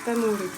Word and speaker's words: tamouré: pratique et enseigne le tamouré une danse tahitienne bien codifié ça s'écrit tamuré s'est prononcé à morée on maintient les anges